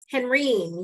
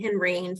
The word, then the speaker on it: Henrine: Henrine, yes, rhymes with Irene, Henrine, father wanted a boy.